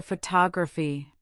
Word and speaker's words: photography: But now consider photography. The stress moves to the second syllable.